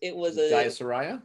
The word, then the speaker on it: Jayasuriya: Yeah, it was Jayasuriya?